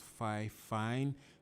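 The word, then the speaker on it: Fifine: The brand is 5 Fine. I think it's pronounced 5 Fine.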